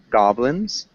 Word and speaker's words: goblins: Goblins, we pronounce the G. Goblins.